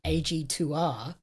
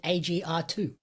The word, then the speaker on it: AG2R: of the dubs they're supposed to say ag2r and they said agr2 and I heard it